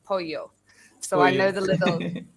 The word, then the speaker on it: pollo: chicken it looks like pollo so they'll say polo because that's what it looks like but i know in spanish it's polio so i know the little yeah so i